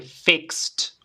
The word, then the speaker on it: fixed: base fix fix y la pronunciación con t vale fixed Ahí la t al final fixed fixed Okay Great